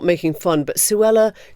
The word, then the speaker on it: Suella: not making fun but Suella does kind of rhyme with Cruella and you just can't